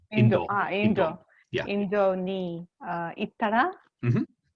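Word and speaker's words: インド: So India in Japanese is pronounced Indo. Indo.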